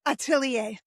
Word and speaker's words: Atelier: Oh, that's how you pronounce it? Yeah, Atelier.